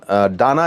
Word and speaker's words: Dana: Cyclone डाना इसका नाम है, कहीं पर दाना भी इसे बोल रहे हैं, DANA इसका प्रोनाउंसिएशन है।